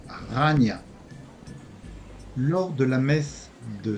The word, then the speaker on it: Chania: ville s'appelle La Canée en grec c'est plutôt Chania ou Ania et se prononce Rania lors de la messe